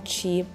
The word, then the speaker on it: Qi: today's project review and today we are reviewing Chi decks this is where you can stake trade and also create it is actually the first decentralized exchange on the chi blockchain Network and we before we move any